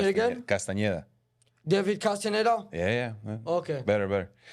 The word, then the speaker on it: Castañeda: So I said David Castaneda. It's not correct? It's it's fine. That's like the English pronunciation? Yeah, you need a tilde at the end and the ñ. Say it again? Castañeda.